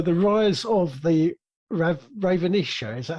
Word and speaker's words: Ravenisha: a start so the rise of the rav ravenisha is that how you say it yes is